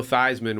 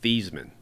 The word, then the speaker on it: Theismann: Joe Theismann, when he went to Notre Dame, his last name was Thiesman. But Roger told him, we need to change your name so it rhymes with Heisman.